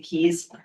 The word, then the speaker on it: KEES: Based on the completed scorecards, so there were 5 firms: DSG Koya, Maneva Group, KEES, I'm pronouncing Keys, Stanton Chase, and Harvest Educational Consulting Group, or I'm gonna call Harvest.